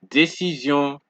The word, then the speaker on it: décision: And we have that zion sound once more, because remember what we said in a lesson earlier, when an S comes between two vowels, it gives you a Z sound.